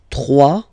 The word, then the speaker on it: trois: Trois, final S not pronounced, trois.